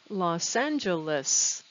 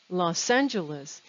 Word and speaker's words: Los Angeles: have the place name los angeles los angeles it sounds like one word also notice how the s on loss connects to the a in angeles los angeles and where